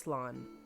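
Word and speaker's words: slán: a shortened version of slan abale or safe journey home one dialect could pronounce it as slon oh slon awkward silence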